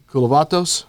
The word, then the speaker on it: Kulavatos: very special guest, Jim Kulavatos. Yes. Did I say it right? You said it right. I said it right. I got it right. It just sounds like a Greek yogurt brand.